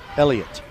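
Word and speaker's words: Eliut: He spells it E-L-I-U-T, Elliot.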